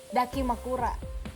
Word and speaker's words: dakimakura: Ini kalau guling, guling khusus yang suka dipakai waifu ini disebutnya dakimakura. daki. Nah makanya bacanya harus disambung dakimakura.